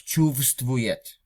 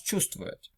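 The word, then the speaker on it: чувствует: Chuvstvuyet Just notice that you do not pronounce chuvstvuyet. You pronounce chuvstvuyet.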